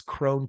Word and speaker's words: Krohn: k k r i it's Crone KR o hn so just Google me